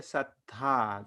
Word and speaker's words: sattha: Over here, Sattha. So we do have an emphasis on the second tha, that is Mahaprana. And here, in the enemy's case, it is just this Alpa Prana tha.